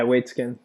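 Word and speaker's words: Waitzkin: Like you're saying, if you know about, Josh, is it Josh Waitskin? Is that how you say it? Yeah, Waitskin.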